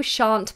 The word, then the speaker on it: shan't: quite well does it but you shan't you shan't pass shan't we miss out the elves altogether